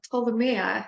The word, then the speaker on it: Ptolemea: Damnation Vault and I'm here with Priscilla of told Maya am I pronouncing your name right the artists from all